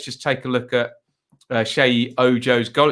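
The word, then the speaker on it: Sheyi: Shayi. Remember it, like Shayley.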